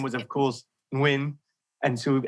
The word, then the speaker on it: Nguyen: And his last name was, of course, Nguyen. And so in the UK, he would pronounce it Nugent up until then eventually he was 26.